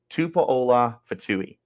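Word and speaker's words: Tupola-Fetui: in Zion tupola fatou I did get the pronunciation for that correct I spoke with some guys tupola fouille in case you were wondering those two are going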